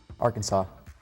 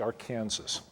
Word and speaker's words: Arkansas: The river that flows through Tulsa and Wichita is the Arkansas, which is spelled the same way as Arkansas, but go figure.